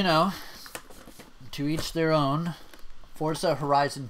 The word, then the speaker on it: Forza: really good as well I say Forza I know it's Fords OVA that just sounds stupid they wanted people to pronounce it that way why didn't they put